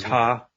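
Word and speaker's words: Tah: For you, it is Ta.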